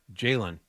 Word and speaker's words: Ja'Lynn: And that is, how do you say it? Jalen.